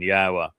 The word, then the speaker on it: Yahweh: The Wah uh is the O sound in Torah.